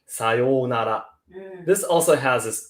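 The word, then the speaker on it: さようなら: daily life, for example, we would skip the u in between here and just pronounce sayonara, sayonara, sayonara, sayonara.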